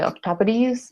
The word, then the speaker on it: octopodes: But if you read it, it says octopodes, but it's actually octopodes is like pronunciation of it.